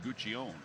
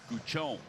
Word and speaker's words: Guion: So for years we've been saying Guion. Guion. Guon. They sent out audio of how they pronounce their names.